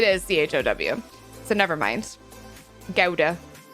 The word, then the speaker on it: Gouda: Gouda. It's what the Gouda puns taught me, right? Google said British is gow and US is goo.